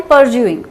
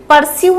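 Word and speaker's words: pursue: And then I एम परज्यूइंग. परस्यू नहीं बोलते हैं इसको, है ना. इट इज नॉट परस्यू, इट इज परज्यू.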